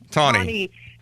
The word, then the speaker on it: Taney: But I saw a pronouncer. Yeah, that's the only reason why I know. I heard. Okay, so Roger Taney.